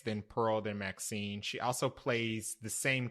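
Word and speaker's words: MaXXXine: I didn't know you pronounced it well it's pronounced Maxine okay okay I was like you said XXX I was like is that how you say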